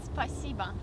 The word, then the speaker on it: спасибо: In Russian, спасибо. Spasiba.